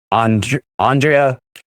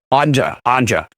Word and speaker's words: Andrea: is Andrea running for Radcliffe. Is that how you say it? Andra. Well, good. Now I know.